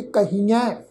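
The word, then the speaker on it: ਕਹੀਐ: कक्का हाहे नूं बिहारी की मात्रा, फिर ऐड़े अखर ते दुलावां नाल बिंदी सहित नासकी टोन विच पाठ उच्चारण करांगे, कहिए।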